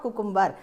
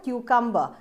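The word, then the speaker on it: cucumber: इट इज़ नॉट कुकुम्बर, ये कुकुम्बर नहीं है, इसको बोलते हैं हम क्यूकम्बर।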